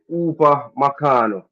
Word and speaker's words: Upamecano: You know me can't pronounce the name. Oh. Upamecano.